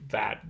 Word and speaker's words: that: ate the cake that it's more of a bit than a bat so you could actually